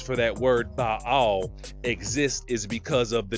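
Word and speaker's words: בעל: in the Elamite language, that word is spelled Bet Ayin Lamed, and it is pronounced Baal, or it can be pronounced Baal.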